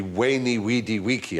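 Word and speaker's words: veni, vidi, vici: I was taught Latin we were taught to pronounce the v as a w so it would be wany weedy weaky I came I saw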